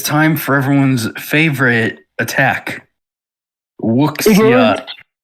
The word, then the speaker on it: wuxia: Wuxia. It's Wook. That is not how it's pronounced, Jaiden. I don't care. It is a Chinese term. It is pronounced wuxia.